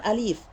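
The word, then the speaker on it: ألف: Maka cara bacanya bukan alif. Bukan alif. Kalau dibaca alif, maka cara penulisannya di situ ada ya setelah lam. Karena posisinya lam dibaca panjang, alif. Perlu teman-teman ketahui bahwa makna dari alif di dalam bahasa Arab itu adalah berputar. Sedangkan ini bukan bermaksud, alif di sini bukan bermaksud berputar, tapi ingin mengucapkan huruf. Maka yang benar di situ cara bacanya alif.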